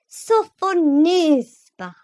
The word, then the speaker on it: Sophonisba: lips, and said again, with an aggravating accent on the third syllable. Sophonisba.